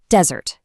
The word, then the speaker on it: desert: Take desert, the dry, sandy place. It stresses the first syllable, dessert.